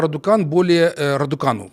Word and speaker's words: Радукану: Она говорит о том, что судья Радукану, так правильно произносить, более 10 лет как тайно работает на Вячеслава Платона и Илона Шора.